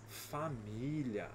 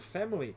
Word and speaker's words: family: seremos uma famli aqui na música ele acaba falando né fic com três sílabas mas como a gente tá falando na frase normal a palavra Family tem só dois só dois sons fam são só dois sons na música acaba ficando com três na próxima aqui seguind